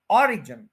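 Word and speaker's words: origin: ये word ओरिजिन नहीं है, ये है ऑरिजिन, यानी यहां पे स्ट्रेस है।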